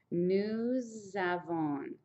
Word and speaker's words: nous avons: Since this ends in an S and this is a vowel, normally you don't say the S, but since the next word starts with a vowel, this little sound will continue over. It's called a liaison, and it's going to be a Z sound.